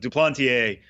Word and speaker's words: Duplantier: Um, but Duplanteier, who by the way, we checked with that.